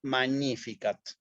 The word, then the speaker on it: magnificat: que el alumno diga miro la palabra magníficat veo que tiene un detalle con la g con la n es un pensamiento que son milésimas ese uno entonces ahí vocalizó la palabra y digo magníficat me explico ahora si yo